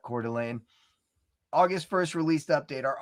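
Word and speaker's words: Coeur d'Alene: It is Bricks and Minifigs, Cordelane. That's how you pronounce that. Cordelane August 1st released update.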